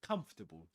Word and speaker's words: comfortable: Comfortable. Three syllables. Even wizards, British wizards pronounce it in this way.